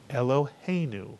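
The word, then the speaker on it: Eloheinu: person plural our and the word is pronounced in three syllables as elohenu mitsu Yan elohenu and it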